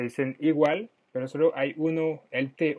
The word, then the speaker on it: où: dónde está el museo, dónde se dice U, como el U castellano, ¿ok? Se dice U, pero se escribe con O, U, con acento grave.